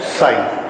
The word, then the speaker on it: psi: ठीक है, this is pronounced as psi. psi जरा डिफिकल्ट शब्द है, क्योंकि ये प्रोनाउंसिएशन हिंदी में होता नहीं है, इंग्लिश में भी नहीं होता है। एनीवे, तो ये स से बना हुआ है, स और च के बीच में psi.